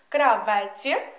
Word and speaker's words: Кравець: танець звертаю вашу увагу Кравець - це людина яка шиє одяг наголос ставимо в кінці Кравець Кравців танець за формою